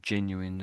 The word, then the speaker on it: genuine: genuine, So it sounds to me like he's saying gen, then it says Yeah, you. I think gen you, and then it very quickly turns into win. Gen you, you win.